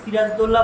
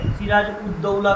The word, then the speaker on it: সিরাজদ্দৌলা: প্রথম যে জিনিসটা দেখবে সিরাজদৌলা বানানটা ভালো করে দেখে নেবে বেশিরভাগ সবাই কিন্তু এই বানানটা উচ্চারণটা করতে গিয়ে ভুল করে সিরাজ উদ্দৌলা করে দেয় যে সিরাজের পরে হস